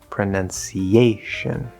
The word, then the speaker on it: pronunciation: In this case, it actually can because it's not ow, it's uh. And this is again that upside down V, the not true schwa, and it is on the syllable that receives the secondary stress, not the primary stress.